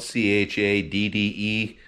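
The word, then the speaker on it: Chadde: name is chad uh it's spelled c-h-a-d-d-e my parents were hippies and i just thought they were gonna be original and uh cursed me with that uh odd spelling but uh it's pronounced chad that's my name that's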